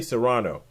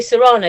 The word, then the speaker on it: Cyrano: You say Cyrano. I say Cyrano because I've always heard it was Cyrano de Bergerac, but the Americans tend to say Cyrano.